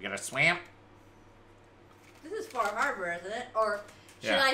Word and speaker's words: Far Harbor: Fahaba. Eowyn spent a bunch of time in Maine when she was younger, and apparently Northeasterners are very particular about pronunciation. You don't pronounce the R's. It's Fahaba.